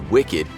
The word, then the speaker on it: WCKD: know in maze runner the reason they pronounce the organization who created the maze wckd as wicked is because in the book the acronym is actually w-i-c-k-e-d which stood for world